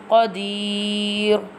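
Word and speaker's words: قدير: Wa huwa ala kulli shay'in qadir, and this one qaf will be bold because two dots is on top of the qaf, so bold. Ala kulli shay'in qadir.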